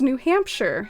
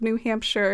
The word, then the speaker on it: New Hampshire: the u.s for that correct pronunciation of shire being like sure and it's new hampshire so we actually have our own shire here in the u.s by the name of new hampshire and it was there